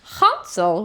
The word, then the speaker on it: Hansel: reviewing Hansel and Gretel Hansel why do you say it like that well it's a German Gretel this movie came out in 2002.